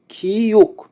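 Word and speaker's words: 키읔: খিউক, খিউকের উচ্চারণ হবে খ এবং ক এর মতো।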